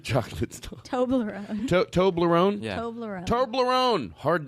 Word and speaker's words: Toblerone: Turboloni? Chocolate stuff. Toblerone.